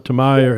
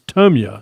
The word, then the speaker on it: Tamiya: It's not called Tamiya, Tamaya. It's Tamiya. It's what I was told that it's how it's said, even over in Japan.